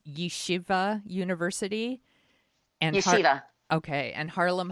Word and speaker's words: Yeshiva: to a research project at, I think it's pronounced Yeshiva University.